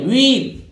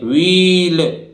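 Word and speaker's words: wheel: इसी तरह देखिए डब्ल्यू H double E एल व्हील, ये व्हील नहीं है, व्हील बोलते हैं ना व्हील, इस तरह से बोलते हैं व्हील, नहीं गलत उच्चारण है, एच साइलेंट रहेगा ये व्हील बोलेगा, तो व्हील माने पहिया होता है।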